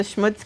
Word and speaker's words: schmutz: clamps exactly what's the schmutz count I don't think we have Isis from what's I don't think I've said schmutz this entire time and I know I'm pronouncing it the Yiddish way so don't don't get